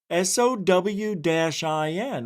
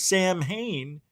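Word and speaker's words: Samhain: And oh, it says pronounced Sen O W- I N. I thought it was Sam Hayne.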